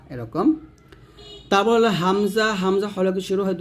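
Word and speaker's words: ء: বিধিত পড়িত হয় অর্থাৎ হামজা যখন আপনি উচ্চারণ করবেন টান দিবেন না হামজাহ হামজাহ এরকম উচ্চারণ করতে হবে তারপর হচ্ছে ইয়া জিহ্বার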